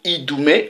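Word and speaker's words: Idumée: Vous voyez la même traduction de Idoumé, ça s'écrit I-D-U-M-E, accent aigu, E.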